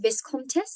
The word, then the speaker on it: Viscontis: Um, Now, obviously, you have come up with Viscontis. Is that how you pronounce Yes, it?